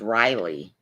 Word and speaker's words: Riley: again that name is that name is pronounced Riley not really I know but it's